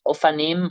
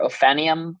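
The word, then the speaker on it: Ophanim: mentioned um and then there's ofanim or ofum I've heard both pronunciations and I'm not from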